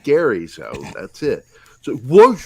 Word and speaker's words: Gerry: jericho because i can't stand it when people call me jerry because it's not jerry because i was raised being called gary so that's it so